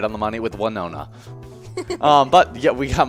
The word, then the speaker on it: Winona: i did it's it's it's one nonna yep winona yeah so i was i was right on